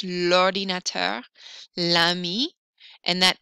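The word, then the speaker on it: l'ordinateur: vowel or vowel sound lordinator notice that it's in a smooth sound lordinator la mi and that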